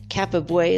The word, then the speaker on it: Cappabue: Kappa Boy is spelled Cappabue.